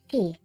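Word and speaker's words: し: She. The consonant followed by a vowel and makes up the single syllable pronounced she.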